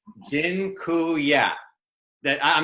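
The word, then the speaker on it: dziękuję: just taught you all the polish word for thank you it's Jin ku yeah that I'm not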